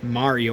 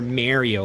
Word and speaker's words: Mario: Just pronounce it right, dude. Not saying that you can't pronounce it however you want to. If you want to pronounce it like that, that's fine. But it's like, dude, sometimes I cringe when he says Mario because it's like, you guys know it's Mario, right? Not Mario.